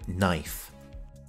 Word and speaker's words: knife: I have highlighted the K here because we do not pronounce it. It is silent. Butter knife.